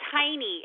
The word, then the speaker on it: Heiney: It's Heiny. H E I N E Y. So like the German pronunciation.